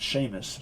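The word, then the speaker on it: Seamus: which name shamus uh i would pronounce it sheamus sheamus sheamus um i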